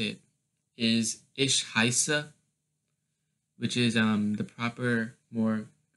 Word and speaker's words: heiße: help with this one, for heiße, it's a E-I or an I-E thing. So the I gets pronounced, and the weird looking B is just two S's. So you're just saying heiße. So you're not pronouncing the E, just the I.